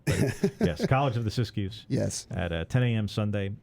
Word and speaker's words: Siskiyous: of the, and I'm going to butcher the pronunciation here, Siskiyous? Yes. Fantastic. Yes, Siskiyous.